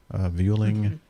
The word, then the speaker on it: Vueling: Vueling Airbus A320-200. Pardon? Whaling?